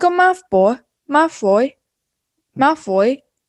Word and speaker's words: Malfoy: mouth boy my floy malfoy so it kind of sounds like mouth boy in america nah i see you